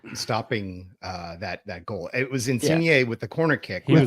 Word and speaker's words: Insigne: So Insigne. Insigne.